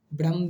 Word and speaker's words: ब्रह्म: ब्रह्म भी होता है, तो आप लोग समझ सकते हैं ब्रह्म, ठीक है ना। ह का आपका पहले उच्चारण होना चाहिए, आधा जो रहता है वो पहले लिखा जाता है।